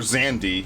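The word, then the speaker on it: Xande: The other biggest example is Emperor Zandi. Yes, that's how it's pronounced from according to Final Fantasy 14.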